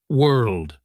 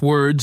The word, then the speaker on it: world: It's not word and it's not ward. You have to make an sound, then move into an L sound and finish with a D.